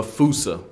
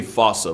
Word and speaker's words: fossa: to lemurs everywhere, the fusa. Although with its spelling, I'm pretty sure it's actually fossa, but the day I pronounce it like that is the day I lay my childhood to rest.